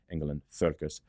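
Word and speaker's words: Engel & Völkers: So some of the terminology is slightly different with Engel and Volkers, Engel and Volkers, the German pronunciation.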